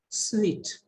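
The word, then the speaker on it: suite: or it is sweet how is it pronounced it is sweet not stupid house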